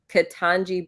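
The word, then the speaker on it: Ketanji: Katanji Brown Jackson.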